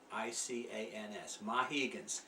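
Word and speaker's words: Mahicans: How do you spell that? M-A-H-I-C-A-N-S, Mohegans.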